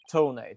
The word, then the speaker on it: Tonate: enough actually it's technically his name is Ted tonate so it's basically as DET detonate detonate yeah tonate basically